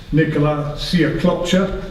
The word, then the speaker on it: Nicolas Siaklopcha: Anthony Yard against, let me get the name right, Nicolas Siaklopcha. That is the correct pronunciation if anybody's wondering.